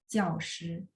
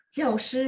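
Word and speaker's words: 教师: 我们学校有 15 个教师, boleh? Boleh banget. Itu lebih tata bahasa. Itu perbedaannya ya. Jadi begitu muncul kosakata ini, pasti kudu harus dibaca nada 4 karena dia adalah kata benda.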